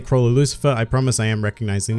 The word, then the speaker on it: Chrollo Lucilfer: me up on this his name is Chronos Lou silver with an L which I swear I do pronounce but the old gets lost in my accent oh just in the